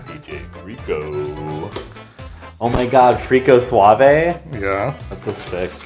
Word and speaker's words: frico: the sides, is called frico. Excuse me? It's called frico, officially. How do you spell it? F-R-I-C-O. F-R-I-C-O. Yep. Oh. Like Rico, but with an F. Right. Okay, not F-R-E-E-K-O.